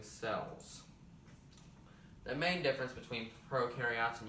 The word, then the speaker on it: prokaryotes: have prokaryotes eukaryotes and no it is not pronounced pro carry use or you carry yachts or who carry boats is pronounced prokaryotes and eukaryotes come on camera guys say it